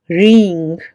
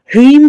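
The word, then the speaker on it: ह्रीं: और कुछ लोग इसको हल्की सी गुंजायमान सी ध्वनि निकाल के रींग रींग इस तरह से प्रोनाउंस करते हैं।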